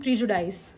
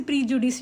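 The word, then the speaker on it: prejudice: Differences and प्रीजुडाइज। अब देखो, difference and प्रीजुडाइज का मीनिंग क्या होता है। बहुत से लोग इसे प्रीजुडिस भी पढ़ते हैं, जो कि गलत प्रोनाउंसिएशन है, ठीक है।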